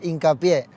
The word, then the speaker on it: Hincapié: Sí, aquí lo pronuncian como hincapié, ¿no? Ya, pero dilo para que lo sepan. Hincapié.